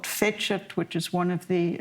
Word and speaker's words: Fecit: And so, there's a little poem in here called Fecit, which is one of the environmental poems. And, that's the Church Latin pronunciation.